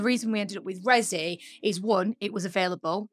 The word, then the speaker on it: RESI: people will be like is it reesy and I'm just I don't understand that everyone can't just like look it and be like it's rezzy like it's just like surely like that you can't pronounce it any other way but yeah that's the